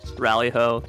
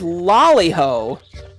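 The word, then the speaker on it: Rally-ho: it was lollihole that i believe was actually a mistranslation in the japanese language uh basically anything that is spelled with an l has an r sound so uh in later like releases of final fantasy games they actually corrected it to lolliho but in many uh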